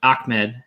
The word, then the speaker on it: Ahmed: bit thoughts on salvation ahmed ahmed is actually how you pronounce it we learned that this week um salvin ahmed